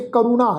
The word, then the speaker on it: करुणा: हे कल मूल क्रोधं कदंच करुणा न उपरजते करुणा, रारे पैर औंकड़ की मात्रा करुणा।